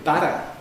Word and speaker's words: butter: And what you spread on your bread is better.